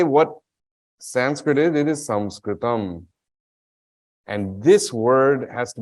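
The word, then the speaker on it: संस्कृतम्: really want to say what Sanskrit it is samskritam and this word has to be understood at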